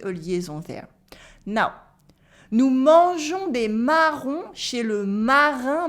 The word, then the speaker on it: mangeons: And you can notice as well that the I in mangeons is silent and the S as well.